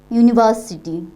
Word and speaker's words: university: sentence there is a university and you know you is pawel later okay you is purple later but we pronounce this word this later this bubble later as consonant sound you University okay University and you